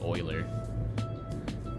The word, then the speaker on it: Euler: days as well so this is not euler this is actually oiler because he's swiss so in swiss it's